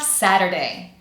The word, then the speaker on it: Saturday: Because this video is focusing on the American accent, I'm going to teach you how that T is not pronounced like T, but we are pronouncing it as a tapped T, which in American English sounds pretty similar to our D sound.